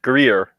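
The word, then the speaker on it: Gruyère: G R U Y E with anything over Ger. Grier. Grier. Okay. Yeah. I would never have gotten that from that from the way it's spelled. Well, that's French for you.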